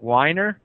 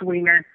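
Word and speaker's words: Weiner: the last name wrong is it whiner or is it the other way no it's wiener okay well anyway that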